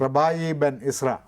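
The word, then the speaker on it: Rabbi Ben Ezra: തുടങ്ങിയിട്ടുള്ള കവിതകൾ അങ്ങനെ കണ്ടിട്ടുണ്ട് റബായി ബെൻ ഇസ്ര മറ്റേ പ്രവാചകൻ പ്രവാചകൻ റബായി എന്നാണ് അതിന്റെ ഉച്ചാരണം റബായി ബെൻ ഇസ്ര ഇസ്രയുടെയും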